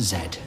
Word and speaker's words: Z: of course in this country that should be pronounced zed thank you for listening everyone we thank